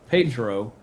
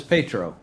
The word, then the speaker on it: Pietro: So have y'all caught that Wanda says Pedro Yeah, and everybody else says Pietro? yeah. She always says Petro, Yeah. but everybody else says it like more syllables to it. They say the Well, the E in it.